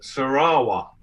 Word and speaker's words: Sarawak: i've always said it sarawak is that incorrect is that an american ignorant pronunciation okay the correct pronunciation is sarawak no you don't pronounce the k but that's the correct